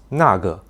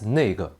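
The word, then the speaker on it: 那个: For example, the Mandarin word for "that" is nàgè, though many people nowadays pronounce it casually as nèigè.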